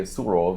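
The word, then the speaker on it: Sourav: Surav, amongst many. Oh, the Surav. Yeah. So Roddur will say Surov, and you, of course, about all sorts of names from the south. They're heavily mispronounced.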